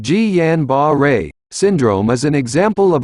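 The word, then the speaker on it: Guillain-Barré: such as the bladder guillain-barre pronounced ji yan ba ray syndrome is an example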